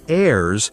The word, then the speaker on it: heirs: And this word heirs has a silent H, so it sounds like heirs, and it means family members who can receive, like children or maybe other relatives.